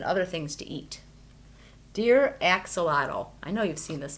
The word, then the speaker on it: axolotl: and in case you're wondering my name is pronounced axolotl deer spicebush Swallowtail caterpillar why are you staring